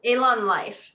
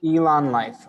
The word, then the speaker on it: Elan Lyft: And just so I pronounce it right, the company name is just It's Elan Life. Elan Life.